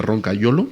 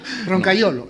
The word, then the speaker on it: Roncagliolo: Bueno, te voy a pronunciar a la italiana, Roncagliolo. Muy bien, es Sí, mejor, ¿no? que como lo pronuncio yo. ¿Sí? ¿Cómo lo pronuncias tú? Yo digo Roncagliolo, es lo fácil.